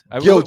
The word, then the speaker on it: Gilgeous: Listen, Shai Gilgeous Alexander, if I'm pronouncing that his middle name. Gilgeous. Yeah. Gilgeous.